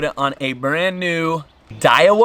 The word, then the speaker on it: Daiwa: on a brand new dial uh is how you say it Daiwa Rev Rose just